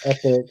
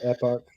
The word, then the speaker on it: Epoch: It's not epic, but Epoch.